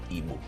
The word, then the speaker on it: Igbo: IBO, Igbo, or IGBO, Igbo. What is the real word for the pronunciation for the language in the East? No, the actual pronunciation is Igbo, IGBO.